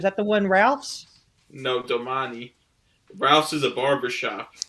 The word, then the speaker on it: Domani: no but how is it how is it pronounced domani yeah but is it like oh d-o-m-a-n-i oh domani all right i thought it was